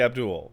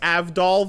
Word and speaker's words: Abdul: It's obviously supposed to be Abdul. And it's not just like Abdul is a real name.